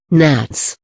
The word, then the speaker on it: gnat: deal with them in the following article Nats pronounced Nats Nats are tiny fly like insects which belong